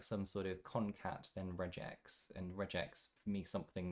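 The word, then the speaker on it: regex: at all so I thought it was reg x regular expression there was a debate about this on the it's pronounced reax I would say but uh what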